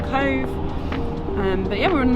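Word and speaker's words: Cobh: we've arrived here at cove spelt with a bh all right we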